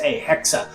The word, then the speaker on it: Hexe: if you want to pronounce it, you would pronounce it in a h e k- sa hexa, which is a German word for witch.